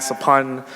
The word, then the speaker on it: Sophon: There's a lot of Cambodians with the same SOPH prefix, like my dad, Sapun, SOPHON, and my ex, Sapi, SOPHY, and her